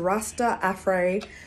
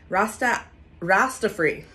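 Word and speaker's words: Rastafri: So today I am using the Amazon 3X Rasta Afray. Rasta free. There we go. That's how you say it.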